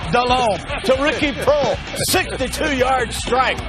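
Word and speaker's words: Delhomme: he can't pronounce it it's not dale holmen it's jake dallon to ricky pearl 62-yard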